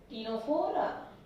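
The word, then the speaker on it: Ctenophora: एक तो Coelenterata, okay, जिसके अंदर हाइड्रा एंड जेलीफिश है, और सेकंड फाइलम टीनोफोरा, सी साइलेंट। ये फाइलम का नाम है टीनोफोरा, जिसके अंदर किसको इंक्लूड किया जाता है?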